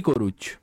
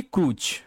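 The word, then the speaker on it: D'Cruz: সঠিক উত্তর option C, কে আরুমুগাম এবং এরল ডি কোরুচ। কে আরুমুগাম এবং এরল ডি ক্রুজ, ইংরেজিতে পড়ো, কে আরুমুগাম অ্যান্ড এরল ডি ক্রুজ।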